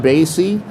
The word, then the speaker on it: Basey: my name is basey uh pronounced kind of like The Count Basie uh I'm a dis